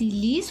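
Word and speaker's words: lease: फिर लीज, LEAS, लीज होता है स्पेलिंग, लेकिन हम लोग इसको क्या प्रोनाउंस किया करेंगे, लीज, LEEZE, लीज। इस टाइप से हम लोग इसको प्रोनाउंस करेंगे।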